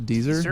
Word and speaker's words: Deezer: it rhymes with Weezer.